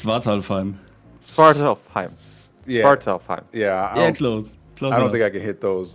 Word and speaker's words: Svartalfheim: Nakatus joined discussing his mod Svartalfheim, that said certainly butchered to pronounce, but we got there in the end. It's Svartalheim. It's Svartalfheim.